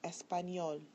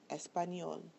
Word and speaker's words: español: The following words follow rule number 2. So listen carefully. Español, regular, mayor, amor. When you listen to them, you'll find that the bolded syllable is the one that receives the stress.